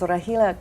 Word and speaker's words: Rahela: Give us the correct pronunciation. Okay, my name is Rahela.